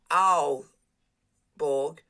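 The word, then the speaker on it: Aalborg: ah this is good when they are two a's it's pronounced owl borg and a the comma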